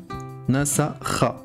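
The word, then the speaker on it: نسخ: Nasakha. Kha à la fin, donc nasakha.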